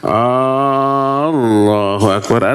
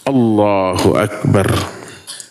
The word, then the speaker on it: Allahu akbar: juga awas hati-hati banyak imam yang a-nya panjang Allahu akbar ada yang begitu ada hanya harus wajib pendek Allahu akbar atau a dalam Akbar yang Allahu akbar nah ini bahaya itu kalimat kufur bila diucapkan dengan arti yang dipahami dan sadar bisa kufur orang Kenapa